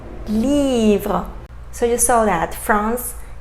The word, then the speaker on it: livre: So final E, we didn't pronounce it, right?